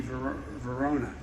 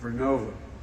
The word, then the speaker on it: Vernova: Arcosa makes wind towers that's going to go into turbines made by GE Verona. Excuse me, I mispronounced it. Vernova in Florida, New York.